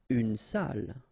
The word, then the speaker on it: salle: Une salle. Okay, so even if you get the double L here, it will be still the same pronunciation as this one.